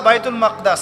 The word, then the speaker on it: বাইতুল মাকদিস: এই বোরাক চলে গেল বাইতুল মাকদাস এটা কোথায় বাইতুল মাকদিস সরি বাইতুল মাকদাস না বাইতুল মাকদিস বিভিন্ন মানুষ বিভিন্ন উচ্চারণ করে এটা হচ্ছে প্যালেস্টাইন কোথায়